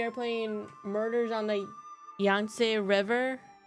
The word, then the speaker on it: Yangtze: But we are playing Murders on the Yangtze River. I think that's how Google said to pronounce it. Yangtze.